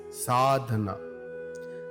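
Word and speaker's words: साधन: These several means are also called sadhana, pronounced as sadhana.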